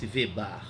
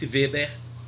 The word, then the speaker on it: Weber: Você estudou em sociologia, começa com W, isso, Max Weber, que a gente não diz Max Weber na pronúncia alemã, Max Weber, pronto, Max Weber e Hans Kelsen.